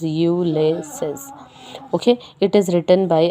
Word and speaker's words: Ulysses: is a poetry here the poetry is ulysses u laces so while pronouncing just remember how you have to pronounce the word that is you laces okay it is written